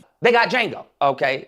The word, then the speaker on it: Django: They got Django. Okay, the D is silent.